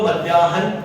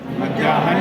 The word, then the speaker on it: मध्याह्न: जैसे एक बार बोलिए हल, हे का पूर्ण उच्चारण होता है, लेकिन मध्याह्न में क्या है का पूर्ण उच्चारण होता है, नहीं होता।